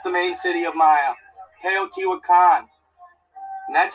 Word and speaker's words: Teotihuacan: Teotihuacan. Yes, my man. Teotihuacan. Thank you. Thank you for that. That's the main city of Maya. Teotihuacan.